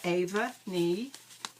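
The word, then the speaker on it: Aoibhe Ní: It's Aiobbhne is her first name, and it's pronounced Ava. Ni, Ava Nee. And I can say that with pretty much confidence because I've watched several of her videos, and that's how she says it.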